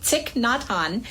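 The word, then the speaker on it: Thích Nhất Hạnh: Okay, I looked it up so I would pronounce it correctly. Ticknot Han.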